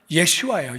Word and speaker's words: 예슈아: 하나님이 구원하신다 그런 말이에 원래 예수도 히브리 식으로 발음하면 예슈아 예슈아 그 예슈아 그게 여호수아가